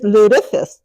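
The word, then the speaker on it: lutefisk: If it's Swedish, it's called Lukefist. If it's Norwegian, it's Ludafist. three syllables, but they take a cod, they soak it in lie, and then they eat it.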